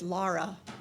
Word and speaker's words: Lara: meet your minister, Reverend Tara, is because it rhymes with Laura.